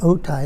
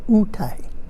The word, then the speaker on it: Otay: And the kumbiyai don't pronounce it OTAY, they pronounce it UTAY.